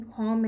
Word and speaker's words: calm: And since M and B are at the end of a syllable, so we will not pronounce B here. Same like in calm and bomb.